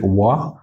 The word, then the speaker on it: quá: I think quá. Didn't you say wa? I did. There's no K in it. In the north, northerners pronounce QU with a K.